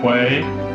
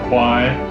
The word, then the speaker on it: Kwai: is this br this river is actually called the river quay that's what thais call it but in the movie it's called the river kwai you'll hear me say both names but their actual pronunciation